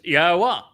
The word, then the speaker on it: Yahowah: In fact, we get the O in Torah from the Wah in Torah, don't we? Uhu. So, is that being mystery solved? It does to me. So, it's Yahwa.